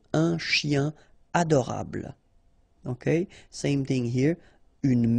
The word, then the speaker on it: un chien adorable: Like here, for instance, un chien, a dog, adorable, okay, here, it would be tempting to do it, but then no, no liaison, so un chien adorable.